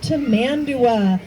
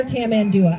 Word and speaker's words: tamandua: Tamandua or Tamandua. I would have taken Tamandua, which is spelled the same as Tamandua.